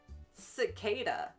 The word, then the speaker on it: cicada: Oh, soft C. Soft C says, cicada. Cicada.